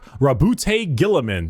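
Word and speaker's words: Roboute Guilliman: Primark Rabbout Gilaman.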